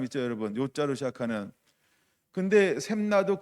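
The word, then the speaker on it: 셉나: 셈나. 발음을 잘해야 되는데 셈나예요.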